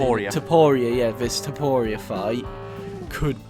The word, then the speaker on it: Topuria: Once again, not the craziest prediction, but with how Volk ended last year, this Tybora, is it Tybora? Is that how you say it? Topuria, yeah, this Topuria fight could be like a bit of a a bit of a toss-up.